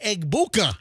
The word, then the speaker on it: Egbuka: And I tell you what, this rookie dude, Egbuka Baduka. Andrew, what's the correct pronunciation? Where'd this guy come from? Rookie Buck player Emeka Egbuka.